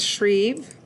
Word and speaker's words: Shreve: First, my name is Miss Shreve. It rhymes with Steve. Steve Shreve, that's easy to remember, although my first name is not Steve